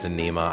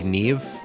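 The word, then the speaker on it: Niamh: We do not have It's not actually pronounced Nema. I forget how it's pronounced. Uh, N I A M H. It's like Nevve. Nev.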